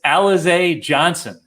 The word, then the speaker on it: Alize Johnson: thing but i'm i did look up the pronunciation it's alize johnson at 3500 on fanduel uh he crushed the